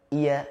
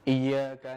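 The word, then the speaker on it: إِيَّاكَ: sampai dia membaca iy iya iya seperti tidak ada tasdidnya I tekan dulu baru masuk ke ya iya iya boleh saya praktikan Ustaz misalnya iyaka na'budu Wa iyaka nastain Ah itu bagaimana Ustaz kita bacanya ditekan dulu di kalimat ya iya iya nah seperti itu i Iya g kan dulu Iya nah dan tidak putus Kadang orang melafazkan putus i ya bukan tapi ada jedas sedikit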